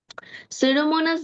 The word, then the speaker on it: Pseudomonas: bacteria, which সুডোমোনাস, is a সুডোমোনাস, পি এর উচ্চারণ করবে, Pseudomonas, সুডোমোনাস bacteria. Pseudomonas bacteria, which is able to disintegrate oil and hydrocarbon in any environment.